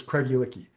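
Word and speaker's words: Craigellachie: My understanding is that the proper one is Craigiliki. Um, you kind of you put a bit of an inf uh a bit of an emphasis um on the E in the middle.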